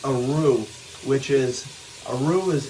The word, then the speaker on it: roux: it will create a roux which is a roux it's spelled r-o-u-x and it's a thickening agent so